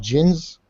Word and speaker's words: jinn: You pronounce it like Jinn, but in Arabic Oh yeah, it has yeah. no D in it.